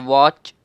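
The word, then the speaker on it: watch: जैसे वॉच, इसमें भी जो टी है ये हमारा साइलेंट है, क्यों?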